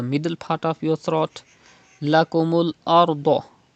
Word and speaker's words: لكم الأرض: Lakumul ardo. You have to read Ra with thicker voice because there is Zabr before Ra Sakin.